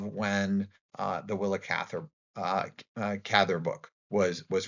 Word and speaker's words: Cather: Um just something that I may make a mistake myself uh about but um the pronunciation of gather is like rather or gather.